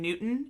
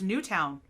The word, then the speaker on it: Newtown: newtown they keep saying newton and i'm like the w is right there it's right there it's newtown cosmo was in new